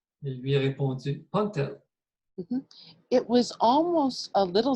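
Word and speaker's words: P'ntl: He also spelled it for me, P'-N-T-L, and he said the apostrophe is a mark that means you puff your lips when you pronounce the P.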